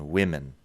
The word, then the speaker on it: women: Igual en cómo se escriben, pero luego, si escuchas bien la pronunciación, lo que cambia es el primer sonido. Woman and women.